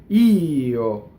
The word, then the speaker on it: io: a grace note, and the first vowel gets the accent. Io. You see? Strong E, and then a little grace note that you have to make up. That's usually not written in the music.